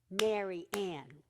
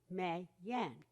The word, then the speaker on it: Mary Ann: For example, my name is Mary Ann. Now I clapped 2 times, and the only syllables that I clapped on were Mare Ann. Kids call me May Yan. But if I clap all 3 syllables, Mary Ann, they can hear all the sounds.